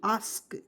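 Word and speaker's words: ask: देखिए ए एस के आस्क क्या पढ़ेंगे आस्क आ आधा सक आस्क देखिएगा ए का उच्चारण यहां पे आ के रूप में प्रयोग करेंगे ए से आधा स के से क आस्क और आस्क मींस क्या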